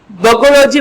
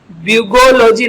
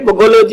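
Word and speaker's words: bugology: Synonym देखिए, पर्यायवाची बगोलॉजी बोलेंगे इसे, ब्यूगोलॉजी नहीं बल्कि बगोलॉजी इसका प्रोनाउंसिएशन उच्चारण होगा।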